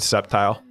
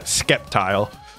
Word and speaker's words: Sceptile: it foreign that's it how do you all pronounce Sceptile I'd pronounce it Sceptile it's definitely not skeptile if that's what you're